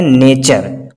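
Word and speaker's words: nature: है यू आर ई, अगर टी के बाद यू आर ई आ रहा है तो वहां पे वर्ड का जो प्रोनाउंस उच्चारण होगा च जैसा निकलेगा। तो यहाँ पे आप पढ़ सकते हैं नेचर।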